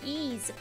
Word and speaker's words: Ys: That's the name is called ease.